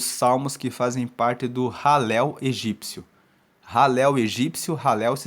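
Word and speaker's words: Hallel: E também você encontra os salmos que fazem parte do Halel egípcio. Halel egípcio, Halel se escreve H-A-L-L-E-L.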